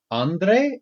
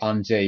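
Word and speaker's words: Andrzej: no way i'd know andre i think is pronounced on on day without it okay i guess so it's actually on j even though it looks like andre yeah or the given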